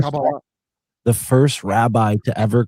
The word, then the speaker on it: Kabbalah: That's And the right way to say it, Kabbalah.